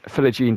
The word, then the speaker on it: Philogene: His last name's pronounced Philogene. I've been saying Philonge for the longest time, but it's Philogene. I thought it's kind of like French, so he didn't pronounce like the G or something like that. You know, it's kind of like silent. I'm like kind of like one of those. But it's Philogene and Archer.